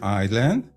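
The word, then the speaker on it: island: going to write here I land there is a silent s but I'm going to write it anyhow and then I'll set the size to 15.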